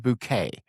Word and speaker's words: Bucket: that show is a woman named Hyasin Bouquet, but Bouquet is spelled B U C K E T.